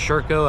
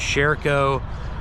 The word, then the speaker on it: Sherco: you're in the u.s i've heard it pronounced circo i've already pronounced sherico for consistency's sake i'm just going to say sureco uh for the first